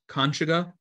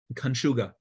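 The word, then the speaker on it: Kańczuga: it was too late we pronounce it in different ways conchaga conchuga but it's a common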